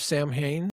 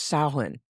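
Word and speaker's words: Samhain: So, have you ever heard of Sam Hayne? It's actually pronounced Sin.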